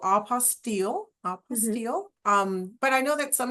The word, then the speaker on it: apostille: dictionary does say like AH, so apostille, Hmm.